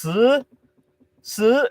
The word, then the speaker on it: 十: In Chinese, 10 is pronounced 十, and I put both hands up that time because I was so tired.